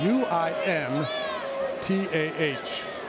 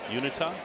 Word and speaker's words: Uintah: U I N T A H. I have no idea how to pronounce it. Uintah?